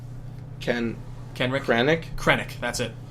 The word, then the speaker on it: Krennic: and villains will in fact be Jin and Kenrick or Kennick. How do you say his name? Kenrick. Krennic. That's it. Krennic?